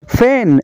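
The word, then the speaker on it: feign: का जी साइलेंट है फैन फैन का मतलब है मक्कर करना फैन का जी साइलेंट है साइकोलॉजी साइकोलॉजी का मतलब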